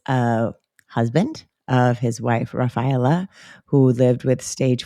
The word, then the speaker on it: Raffaella: also get to meet Raphaela. Did not did I say when I was reading it, I probably did say it like Raphaela rather than Raphaela how I know how to say it.